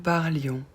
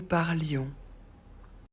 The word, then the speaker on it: parlions: Nous parlions. Pour nous, on ajoute I-O-N-S. On ne prononce pas le S.